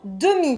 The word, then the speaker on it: demi: Le deuxième, c'est le mot demi, D-E-M-I. Oui. Merci beaucoup. Demi, même si c'est pas visuellement écrit E-U. Tout à fait. La prononciation est la même.